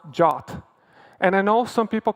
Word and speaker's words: JWT: is pronounced like the Greek letter Omega it's pronounced jot and I know some people call it jot